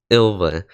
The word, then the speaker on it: Ylva: ilva a skill okay that's how you say her name I've been trying to figure out how to say her name the whole time it's ilva okay that's that's good ilva